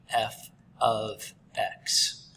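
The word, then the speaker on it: f(x): heads of a heads up uh it's it's pronounced f of x and i know it's super confusing because you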